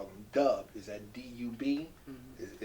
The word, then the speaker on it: Dub: Is that D-U-B? Mm-hmm. Is it pronounced Dub or Dab? Dub. Dub, okay. Someone told me D-U-B was Dab, but you say Dub, right?